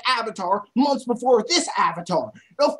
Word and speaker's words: Avatar: No one says Ovatar. Everyone says Avatar. Hell, James Cameron came out with a movie called Avatar months before this Avatar.